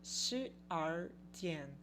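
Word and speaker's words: 十二点: Agora, se eu estiver falando 12 horas, meia-noite, meio-dia, às 12 horas, no entanto, aí a gente vai usar shi-ar-dian. Shi-ar-dian, que é o jeito que é pronunciado 12. Shi-ar.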